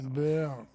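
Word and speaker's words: Baer: Mais non, ça s'écrit pas en français, son nom c'est B-A-E-R. Baird.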